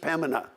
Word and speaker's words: Pembina: And now they say, no, you don't even pronounce the B, it's just Pembina.